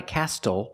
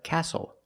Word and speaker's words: castle: We also see the silent T when you have the spelling pattern S-T-L-E. Like these words, whistle, castle, and hustle. The T is silent with the spelling pattern S-T-L-E. Example, this is a castle. Not a castle, but a castle.